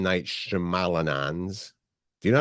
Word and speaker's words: Shyamalan: is opening next Friday along with M Night shalan do you know how to say it Mite Shyamalan shamalan I think yeah he's got a new movie